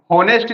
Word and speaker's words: honest: अब यहां पर देखो, सी इज होनेस्ट गर्ल, तो बहुत सारे बच्चे एच को भी क्या करेंगे, प्रोनाउंस करेंगे, तो यहां पर एच जो होता है ये क्या होता है, साइलेंट होता है, क्या होता है, साइलेंट होता है।